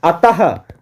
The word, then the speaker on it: अतः: प्राय प्रायः जैसे है अतः अतः लास्ट में इसका उच्चारण जो है ह के रूप में होता है क्योंकि सबसे पहला चीज